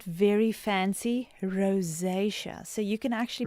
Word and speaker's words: rosacea: Rosaceia. So, you can actually pronounce it as if you want to say the word rose and then just give it a bit of a jennaqua look and feel to it.